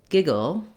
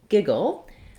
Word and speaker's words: giggle: first at the word giggle it's a funny sounding word it has the first syllable is stressed so the gig syllable is stressed and then the second syllable is just this little syllabic l sound the o sound